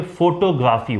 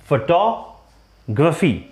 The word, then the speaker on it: photography: जैसे ये वर्ड है, इसको हम लोग बोलते हैं आमतौर पे फोटोग्राफी। While it's correct pronunciation is photography.